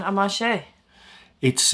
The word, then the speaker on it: Amacher: maybe Belgian family background so it's a French pronunciation amashi it's a really